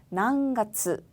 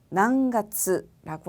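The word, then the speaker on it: 何月: 난가츠, 난가츠라고 하고요.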